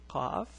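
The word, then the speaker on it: قاف: So this is the letter Qaf. The pronunciation is Qa.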